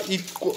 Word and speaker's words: Ixwa: Iqwa. How do you pronounce it?